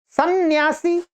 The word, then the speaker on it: सन्यास: तो हम सन्यासी न का उच्चारण कर रहे हैं तो न होना चाहिए। सन्यासी सन्यास अनुस्वार का उच्चारण हम कर ही नहीं रहे।